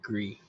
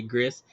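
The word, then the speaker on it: Gris: that you never played gree never played which one gree gree yeah it's it's it's spelled g r i s so you say GIS but it's a French word for GR oh okay got you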